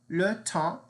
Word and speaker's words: le temps: Le temps means the time, or also it means the weather in general. Le temps. Now notice we don't pronounce the S at the end. It's just le temps.